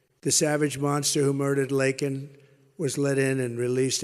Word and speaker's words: Laken: lakan Riley you know Laken very well now and after months of prodding him Biden couldn't pronounce her name he said uh he said Lincoln Lincoln Riley and Lincoln R is